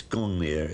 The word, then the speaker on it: Gungnir: We think that perhaps it might have been pronounced in those days Ungungnir, maybe. It's Gungnir in historic times.